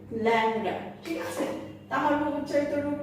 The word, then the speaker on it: ল্যাংড়া: যেমন দেখো, ল্যাংড়া, আমরা কিন্তু লিখেছি ল্যাংড়া, কিন্তু আমরা ল্যাংড়া বলি না, আমরা বলি ল্যাংড়া।